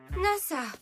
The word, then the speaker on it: Nasa: c'est NASA NASA yuzaki NASA c'est trop cool NASA comme l'agence spatiale pas tout à fait ça se lit NASA mais ça s'écrit avec les kanji du ciel étoilé je comprends mieux c'est